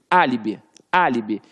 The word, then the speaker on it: álibi: E quando você fala que você tem um álibi, você tem ali, ó, a antepenúltima sílaba forte. Por isso que ficou líbi. Álibi, álibi. E viu que o A ficou forte?